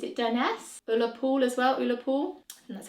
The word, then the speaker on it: Ullapool: Ullapool as well, Ullapool.